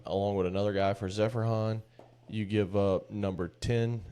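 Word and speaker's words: Zeferjahn: Zephrhan. Sure. No, that's how you say it. Zephran.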